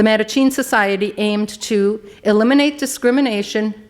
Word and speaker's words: Mattachine: rights organization formed the i believe it's pronounced meta-gene december no the Mattachine Society aimed to eliminate